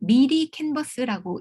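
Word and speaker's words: 미리캔버스: 이거를 미리 캔버스라고 읽습니다.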